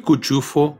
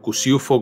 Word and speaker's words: Cuciuffo: José Luis Cuchufo, o Cuciufo como lo pronunciaba él, nació en la ciudad de Córdoba, el 1 de febrero de 1961.